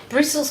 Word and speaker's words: bristles: Bristles, Chris and Fasten. Listen, these ones are, there's a T that you don't pronounce.